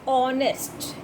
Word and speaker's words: honest: These words begin with H, but the H is unsounded. The sound of O comes, honest.